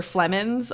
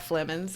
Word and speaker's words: Flemons: Flemons on it, but spelt PHLE. What is it? I think there's a G in there somewhere. All of that. Flemons.